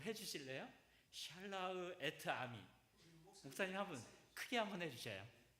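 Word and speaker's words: שַׁלַּח אֶת־עַמִּי: 이 목사님 발음으로 한번 좀 해주실래요? 샬라흐 에트 아미. 목사님 한번 크게 한번 해주셔요. 목사님. 샬라흐 에트 아미.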